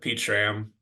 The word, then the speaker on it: Pete Schramm: the easiest way uh pach sham uh you'll see that I'm connected to Alex and the easiest way to remember how to say my name is with two emojis a peach and a ram see if there's anybody